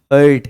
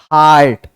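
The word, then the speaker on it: heart: हार्ट है ना कि हर्ट है तो आपको अगर बोलना हो तो आप बोलेंगे हार्ट ना कि हर्ट हर्ट का मतलब तकलीफ देना होता है यार वो एयू आरटी वाला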